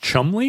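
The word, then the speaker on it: Cholmondeley: office and they they is it that name Chumley? Does it look like Ch Manderlay? Yeah, Ch Manderlay. Is it pronounced Chumley? Yeah, they're so in addition to their terrible blackface, their spelling is also depraved. I had no idea that Chumley, who I know as a as a prominent character in American culture, uh that it was actually pronounced they have eight they add eight letters or something to it.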